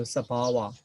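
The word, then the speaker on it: sabhāva: So I just pronounce to introduce you the Pali pronunciation. So Sabhava, the own transit nature.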